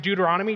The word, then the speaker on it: Deuteronomy: ever need to know how to pronounce Deuteronomy just say dude you're onto me works every time I